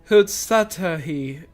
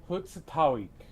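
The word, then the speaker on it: Hhusatahwi: Take it you're heading to Husatawi. Then I'll have a man bring the Ronique over there. Just mind yourself around the drunkards and troublemakers, eh? I believe that word is pronounced Hutsatawik.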